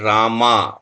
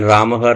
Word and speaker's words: Rama: Because a lot of people in Hindi, in English, they write Rama, M-A, then it becomes confusing how to pronounce that. So if it is with the full ma, it is Rama, not Rama.